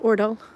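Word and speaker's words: Aardal: But AA, just like Karl's last name, Ordal, A-A-R-D-A-L, is pronounced Ordal.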